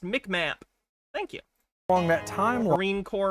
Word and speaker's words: MCMAP: It's called MCMAP, pronounced MICMAP.